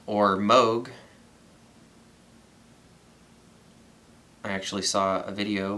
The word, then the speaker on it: Moog: And that looks like a Moog or Moog. I actually saw a video where somebody from the company said that there are several legitimate pronunciations. And where I'm from, people say Moog.